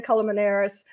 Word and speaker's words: Colmenares: staging and design and my guest today jan calamanaris did i pronounce that right culmination absolutely yes jen is